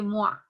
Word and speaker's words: Moivre: En su forma trigonométrica es la fórmula de Moivre o de Moix, que es la pronunciación más correcta, pero lo vamos a pronunciar así como se lee, de Moivre.